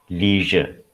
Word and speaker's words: leisure: So it is pronounced as pleasure. Pleasure. It is not pleasure, it is pleasure. Similarly, leisure is pronounced as leisure. These are the two very common words which have this j sound.